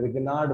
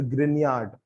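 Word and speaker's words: Grignard: किताबें पढ़ोगे तो कुछ लोग बोलते हैं कि इसे रिग्नाार्ड बोला जाता है। प्रोनाउंस एज रिग्नाार्ड या फिर ग्रनयार्ड है ना? बट आप उसे ग्रग्नार्ड भी बोलोगे तो ग्रिग्नार्ड भाई साहब को बुरा नहीं लगेगा। बट प्रोनंसिएशन यूजुअली उसका ग्रनयार्ड होता है।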